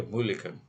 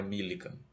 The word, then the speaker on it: Mulliken: Isso aí é Mulliken, algo assim a pronúncia com MU, né? Começa com MU, não é Millikan, tá certo?